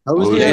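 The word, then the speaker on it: Hozier: probably old school, but how do you pronounce it? Hoser? Have y'all heard of that? Hosier. Yeah. Hosier. Yeah, it's Hosier.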